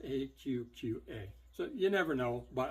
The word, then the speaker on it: AQQA: The AQQA, I was calling it Aqua, and then when they reached out to me, they're like, it's pronounced AQQA.